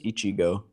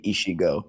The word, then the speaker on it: Ichigo: get it um it's Ichigo I've been saying it correctly no you need to get your ears clean you always said Ichigo yeah he says Ichigo like with the CH sound not an sh nah he says Ichigo